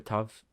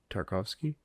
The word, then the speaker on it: Tartakovsky: Tartakovsky. Tarkovsky. I think there's another syllable in there.